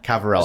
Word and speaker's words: Ciavarella: Cavarella.